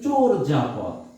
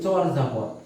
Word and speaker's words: চর্যাপদ: চর্যাপদ এই দেখো আমি নিজেও বললাম চর্যাপদ আসলে উচ্চারণটা হবে কিন্তু চোর যাপথ চর যা পথ চর যাপথ চোর যাপথ আমরা কিন্তু এই উচ্চারণটা ভুল করে বলি চর্যাপদ চরজাপথ বলি আসলে উচ্চারণটা কি চোর যাপথ এরপর